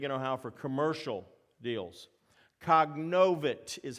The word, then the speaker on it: cognovit: Cognovit is how that first word is pronounced.